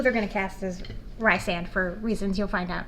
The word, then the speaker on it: Rysand: I read it as Rysand for a long time, and then like 6 months later I realized I was pronouncing it wrong. It's Rysand.